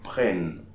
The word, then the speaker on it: prennent: So in this case, we are not pronouncing the E, we pronounce the N before. So ils prennent.